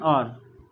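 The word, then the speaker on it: hour: देखिए इसको हवर नहीं पड़ती, इसको क्या पढ़ते हैं? आर। ठीक है, एच साइलेंट है, जैसे आर ऑनर होता है, ठीक है, एयर होता है, ठीक है।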